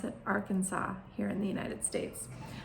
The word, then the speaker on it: Arkansas: It looks like Arkansas, but we pronounce it Arkansas here in the United States.